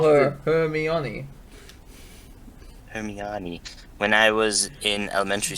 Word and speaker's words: Hermione: i right yeah very much like hermione it's hermione did you know that right when i was taking a sip of water you gotta call her hermione when i was in elementary school and my